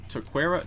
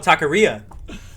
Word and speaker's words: taqueria: you say it uh it's like a taquera to to like the taco spot oh taqueria taqueria there you go there you go um